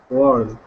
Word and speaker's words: were: were. That's the same as in her, but were that we actually pronounce that like world.